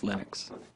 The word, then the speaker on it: Linux: pronounce my name but Linux is always Linux he developed a kernel